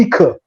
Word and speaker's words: Ika: Ika, mas eu aprendi que se pronuncia Ika.